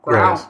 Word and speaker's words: Grohl: Growl. Oh. David Grohl. Grohl. Yeah. Oh, okay. Anyway. It's not Growlith. It's not pronounced like that.